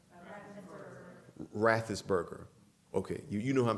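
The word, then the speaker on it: Raffensperger: his last name forgive me um how's it pronounced rathis burger okay you know who i'm talking about brad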